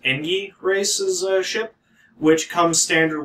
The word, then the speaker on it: Engi: The missile launcher that comes with the Kessel consumes missiles, and the Engi ship, I assume it's pronounced Engi myself, because they get a